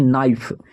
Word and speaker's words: knife: यहाँ पे KNIFE नाइफ, का नाइफ नहीं पढ़ते, इसको पढ़ते हैं नाइफ, और नाइफ मतलब होता